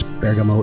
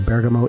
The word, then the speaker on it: Bergamo: There's guitarist Buck Curran, who lives in the European epicenter of the virus, Bergamo, Italy.